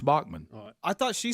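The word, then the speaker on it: Baughman: spelled that way you're right and it is pronounced Bachmann I thought she said her name was spelled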